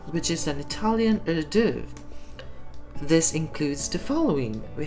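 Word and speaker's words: hors d'oeuvre: you pronounce this one you pronounce it as a div since we are dealing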